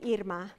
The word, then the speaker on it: Irma: and I tell them my father-in-law remembered the pronunciation of my name by thinking of earmuffs he called me and it's fine if you call me how do you spell